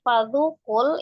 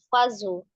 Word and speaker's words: fadhukul: Ulang dari fadhukul itu zal ya, bukan fazu. Fadhu, zu, ujung lidah ada di ujung gigi seri bagian atas.